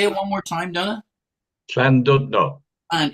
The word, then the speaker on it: Llandudno: Llandudno. And it's a CL sound, correct? The double It's a L? CL, yeah, or KL, Clandudno.